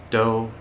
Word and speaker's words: doe: actually called a doe doe a deer a female deer that sounds like a d-o-u-t-h though yeah it does sound like dough which is a mixture